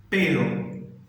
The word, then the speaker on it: pero: A gente tem uma palavra que é P de pato, E-R-O. E eu falo pero, ok? Eu cheguei em casa, mas não tinha ninguém. Cheguei a casa, pero não tinha nadie. A palavra com P de pato, E-R-R-O, eu já falo perro. Aí dá aquela tremida que a gente já se acostumou quando ela está no início. Que aí essa já seria o cachorro, né?